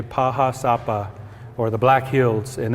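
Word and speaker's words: Pahá Sápa: In our language, we say Paha Sapa, or the Black Hills, and this is where the creation story of our people come from.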